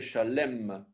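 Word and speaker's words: שָׁלֵם: Voilà, Shalom ou Shalem, puisque le tséré en dessous de la met ici, c'est plutôt un E. Donc c'est Shalem.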